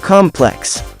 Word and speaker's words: complex: word hence complex but if you're referring to a structure or building the stress is on the first syllable of the word hence complex if you're referring to